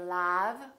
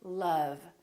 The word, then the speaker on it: love: And once in a while, this sound is also spelled with the letter O, as in words like love. We don't say love, we say love.